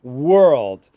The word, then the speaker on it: world: So you want to break it down. And we have were. That's easy. You can say were, try to get that American R, tongue going back, were, and then old. You can say old, old. He's 24 years old, old. And you want to take them were old, and then a little closer together, were old, and then closer together, were old, and then link them together, world.